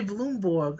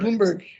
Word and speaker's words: Bloomberg: Bloomberg we games has canled legacy. What did I say? I heard you say Bloomborg. Or maybe maybe I misheard you. I apologize. Bloomberg.